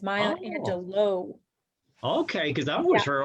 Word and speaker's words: Angelou: maya angelou angelo actually listened to an interview of her explaining how she pronounces her name and it's my angelo okay because i wish